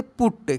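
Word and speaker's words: put: टी नट ठीक ना अगर रहता पी यू टी तो इसको हम लोग पढ़ देते पुट क्या पढ़ते पुट तो दो कसोनेंट के बीच में अगर यू रहता है तो यू को हम लोग अ के रूप में पढ़ते हैं लेकिन यह अपवाद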